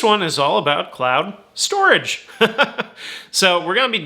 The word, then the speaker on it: STORJ: the ticker s-t-o-r-j uh they pronounce it storage but it looks like it says store j so storage is a